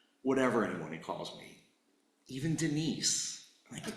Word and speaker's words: Denis: Like my father, I could have anglicized it to be Denis, but I prefer the French pronunciation, the one that he gave up when he moved from Quebec to Connecticut, and that's Denis.